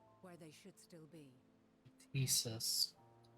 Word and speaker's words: Ktisis: Thesis. You do pronounce the T.